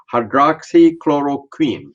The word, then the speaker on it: hydroxychloroquine: may not be able to pronounce the correct pronunciations it is called there's a lot of discussion on the hydroxychloroquine did i get it right yes yes okay